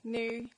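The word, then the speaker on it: Niu: surname is new um pronounced new as in New Pair of Shoes so my husband is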